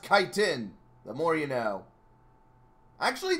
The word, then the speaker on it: chitin: since we're gonna meet time anyway chitin it's pronounced chitin the more you know actually that is good information honestly I await I always thought it's pronounced chitin but it's actually chitin I can't blame me it's ch I T